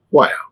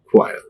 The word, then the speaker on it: choir: Next one is C-H-Y-R. Oh my goodness, this is, we can't bear this when we hear this. This word is pronounced. This is choir. See this one, Diphthong. This is a Diphthong. A-E-O. This is a Diphthong. Be careful when you are pronouncing this. Okay, choir. There are three vowels together and give one sound.